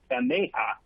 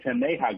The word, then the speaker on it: Taneja: validation engineer with the I always pronounces wrong with the thing not taneja with the Tim Neja group sorry Tom where